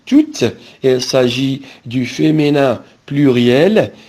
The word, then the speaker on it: toutes: Toutes avec ES, c'est pareil, on dit toutes.